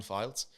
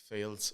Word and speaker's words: Fildes: So, my name's uh Files. Um, sometimes get Fields or Fiddler.